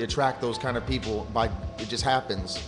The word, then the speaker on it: Beau: obviously now you spell you spell it b e Au U correct pronounced correct okay a lot of people have pronounced it bu if I say it